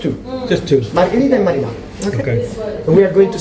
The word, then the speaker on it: marinara: Less famous, but best, better, is marinara. Marinara. Marinara. Can I say this? Marinara, yes. Marinara. Pronounce every vowel. Every fucking vowel.